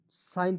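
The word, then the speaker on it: sign: एस आई जी एन, साइन पढ़ेंगे, जी को साइलेंट कीजिएगा।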